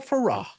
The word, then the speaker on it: Ferox: with me now cannibal Farah cannibal magic finger I like how you pronounce it I like how Farah it l it rhymes with hurrah yeah it's a happy